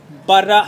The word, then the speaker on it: Baramawy: Ladies and gentlemen, this is Madam Baramawy. How do I pronounce it?